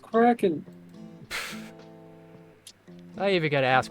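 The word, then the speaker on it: Kraken: set two miles away Against the Wind it's pronounced cracken I even got to ask what the [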